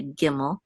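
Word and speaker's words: gimel: has the dot we're going to still say giml so be go go and then this is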